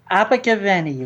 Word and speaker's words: Abergavenny: Abergavenny, Rob.